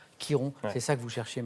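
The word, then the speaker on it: Chiron: chose Jean-Louis c'est bien c'est Kiron C i r o n ça se prononce effectivement Kiron c'est ça que vous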